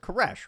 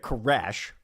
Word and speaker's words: K'aresh: Especially because we always pronounce it cares, right? We're pronouncing it cares, right, Vinnie?